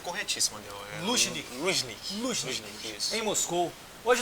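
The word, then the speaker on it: Лужники: A pronúncia é corretíssima. Luzhniki.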